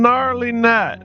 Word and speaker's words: Gnarly: I'm gnarly. And before you ask, yes, that's what my parents named me. Silent G and all like lasagna.